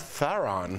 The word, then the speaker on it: Theron: Yes, Theron.